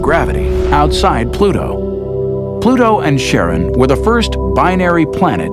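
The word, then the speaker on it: Charon: Christy suggested the name Karen after the fairerryyman of Pluto's underworld in Greek mythology, but preferred to pronounce it Sharon, more like his wife's name, Charlene.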